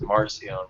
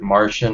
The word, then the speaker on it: Marcion: Yeah, I mainly hear it as Marcion, but I've heard Martian or Marcion.